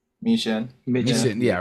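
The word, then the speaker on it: Michin: Uh Was it Mission? Is that how you pronounce her name? Miesha.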